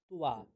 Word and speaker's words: ত্বা: গণানাং ত্বা, তো ত্বাটাকে ত্বা, তয়ের সাথে ব, ত্বা গণপতিগ্গো হবামহে প্রিয়াণাং ত্বা প্রিয়পতিগ্গো হবামহে নিধীনাং ত্বা নিধিপতিগ্গো হবামহে বসো মম আহমজা নিগর্ভধমা ত্বমজাসি গর্ভধম্ম।